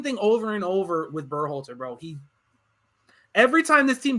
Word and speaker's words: Berhalter: The genius Greg Berhalter changed 7 changes to an 11-man lineup. So it's pronounced Berhalter? I thought it was Berhalter. Berhalter? I always say Burr.